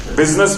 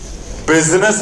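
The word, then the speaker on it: business: word बनाया उसको सलाम बिजनेस में यू पहले आता है आई बाद में आता है और यू की आवाज है आय साइलेंट है बिजनेस है बिजीनेस नहीं है कस्टमर लोग पीपल तुम्हारी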